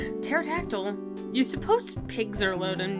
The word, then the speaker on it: pterodactyl: pterodactyl bro the pterodactyl the P oh dudes I was about to say it wrong pterodactyl you suppose pigs are